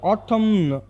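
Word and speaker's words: autumn: ಅರ್ಥ ಹೆಬ್ಬೆರಳು ಅಂತ ಹೇಳಿ ಆಟಮ್ ಆಟಮ್ ಅಂದ್ರೆ ಎನ್ ಸೈಲೆಂಟ್ ಆಗುತ್ತೆ ಇದನ್ನ ನಾವು ಆಟಮ ಬದಲು ಆಟಮ್ ಅಂತ ಮಾತ್ರ ಪ್ರೊನೌನ್ಸ್ ಮಾಡಬೇಕು ಇದರ ಅರ್ಥ ಕನ್ನಡದಲ್ಲಿ ಶರತ್ಕಾಲ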